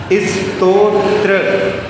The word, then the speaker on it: स्तोत्र: स्तोत्र, हाँ, कई आवाज में स्त्रो पहले आ जाती है, वो नहीं है।